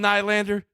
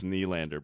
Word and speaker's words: Nylander: He goes, "Come on, Nylander, come on." I'm like, "It's Nylander, bro."